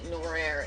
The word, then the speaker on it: noir: No, I'm not saying it right. Noir. N-O-I-R.